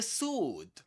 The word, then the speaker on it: sword: Again, no W. Not sword. Sword. It's sword. Sword. Only sword. Perfect. Did you Did you know that? Did you know that in this word the W um is silent?